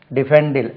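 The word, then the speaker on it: defend: சரி, இதில் வந்து டிஃபெண்ட், இதை உச்சரிக்கும் போது பாருங்க, டிஃபெண்டில் டிஃபெண்ட், stress lies on the second syllable.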